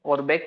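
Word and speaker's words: Auerbach: इसको बोलते हैं लेकिन क्या है? ऑर्बेक प्लेक्सिस ऑर्बक जबकि ए वी ई आर बी ए सी H spelling है। है ना?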